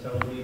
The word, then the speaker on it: Tel Aviv: The Hebrew pronunciation of Tel Aviv is what? Tel Aviv.